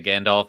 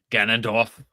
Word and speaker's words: Ganondorf: I always say Gandalf instead of Ganondorf. Always mess that up.